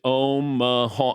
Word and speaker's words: Omaha: Omaha, so it's three syllables, and I didn't know if you're calling an audible.